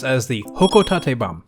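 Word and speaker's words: Hocotate: is pronounced as the hoko Tate bom using the Japanese based pronunciation which we can hear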